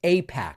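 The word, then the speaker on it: AIPAC: To pretend that he doesn't know what Apac pretending doesn't know what APAC pretending it could be pronounced IPAC is just insulting to anyone who follows this channel.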